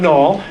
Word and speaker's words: Nall: My name is Nall. N-A-L-L. It's real simple. Rhymes with ball and call and all those other words.